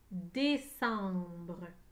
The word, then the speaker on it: décembre: le mot prenez une photo avec vos yeux décembre des seins brun il y a trois syllabes dans le mot descendre des sens breux